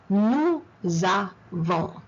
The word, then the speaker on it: nous avons: Nous avons. Nous avons. Oh, hold on. I just told you the S shouldn't be pronounced. Why am I pronouncing it here? Because the second word starts with a vowel.